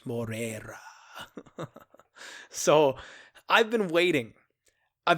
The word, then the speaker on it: Moreira: You double roll the R's. Morera.